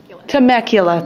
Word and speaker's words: Temecula: Temecula, thank you.